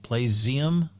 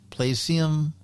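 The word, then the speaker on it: Playseum: It's play s e u m like museum. Plium. Placium.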